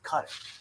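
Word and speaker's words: Qatar: I've never seen it's a nation, and I don't think we can agree on how to pronounce it. But I think it is Cutter. I think Guitar is actually wrong.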